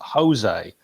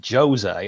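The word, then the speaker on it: José: Where you call him you call him Jose, where it's Jose, and I never ever bring it up.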